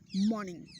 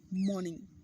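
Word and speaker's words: morning: देखिए इसमें आर है ना जो साइलेंट होता है, इसको क्या पढ़ते हैं? मॉर्निंग। क्या पढ़ते हैं इसको? मॉर्निंग।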